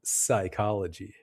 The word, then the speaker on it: psychology: Be careful though, because sometimes the P is silent in words like psychology.